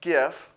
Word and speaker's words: GIF: It's pronounced GIF, and I'll fight you for it.